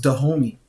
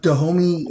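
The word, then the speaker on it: Dahomey: basing the movie out of the kingdom was the homie was the name of the Kingdom we didn't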